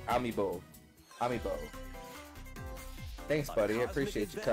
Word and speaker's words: Amiibo: The word is Amiibo. It said as it's spelled Amiibo.